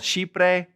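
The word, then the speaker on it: Chipre: It is called shipre and they are chipriota.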